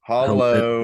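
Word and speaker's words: Hallo: Goosen type isn't it how do you say hello in German like uh Hollow it's just Hollow yeah bless you that's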